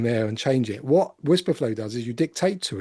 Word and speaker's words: Wispr Flow: So what Whisperflow is, and it's spelled WISPR flow, and it's a dictation tool.